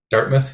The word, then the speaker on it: Dartmouth: also co-founder of Dartmouth is that how you pronounce it Dartmouth yeah Dartmouth yeah Ocean Technology Inc uh developer